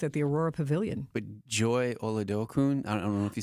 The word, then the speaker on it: Joy Oladokun: But Joy Oladokun, I don't know if you say her name right.